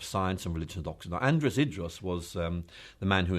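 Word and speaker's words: Andreas Idreos: um I you'll have to help me to pronounce the actual name of the chair that you currently occupy it's the Andreas idas chair of Science and religion do now Andreas idrus was um the man who endowed this chair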